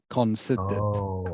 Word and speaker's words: considered: daily exercise okay okay you don't need to pronounce the r in this word okay it's one of